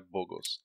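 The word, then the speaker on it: Bogles: A pronúncia correta é Boggles.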